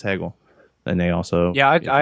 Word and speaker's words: Hegel: there's kids at home because his name is pronounced and uh is it's Hegel I checked with someone in the audience Nick they are they live in Germany they speak German they say it's Hegel and they also yeah I actually spoke to